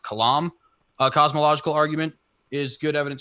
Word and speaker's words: Kalam: I believe I believe it's pronounced kalam, cosmological argument is good evidence for God.